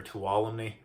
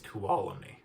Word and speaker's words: Tuolumne: then from there it goes up to Tolumni Meadows or Tuolumne. I don't know. I got to correct it on how to say it, so I think it's Tuolumne Meadows, something like that.